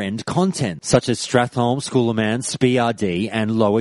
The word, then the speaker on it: Scholomance: have heard me when I was reading out schooler mance I said schooler mance instead of scholomance I